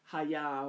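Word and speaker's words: היה: the Hebrew the connects the correct pronunciation is hi-yah welcome my sister good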